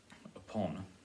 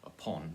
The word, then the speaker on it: upon: first variation but because upon now upon is a two syllable word or fistic and usually we will put some stress on the second syllable more than first it was upon not upon but it's